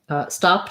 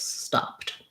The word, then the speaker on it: stopped: I'm going to stopped is going to have the T sound because the P is voiceless, stopped.